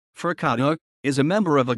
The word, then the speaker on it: forcado: a for cato portuguese pronunciation fercado is a member of